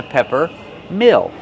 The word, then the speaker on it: pepper mill: How do we pronounce it? Peppermill. So, pepper use the short s sound like head and red. Pepper. This is a pepperm. Mill. Use a short sound like this is mm- mm mill. Plus a dark l.